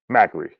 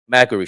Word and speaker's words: Macri: That's how you say his name, Macri. Macri.